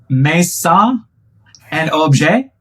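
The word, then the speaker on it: Maison&Objet: You just came back from the Maison Objet conference in Paris, France.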